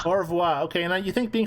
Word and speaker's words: au revoir: How's that pronounced? Au revoir. Au revoir.